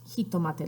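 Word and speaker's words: jitomate: a lot alike but instead of tomate de it's kitto mata like they have a ji in front of the tomate de Jota II he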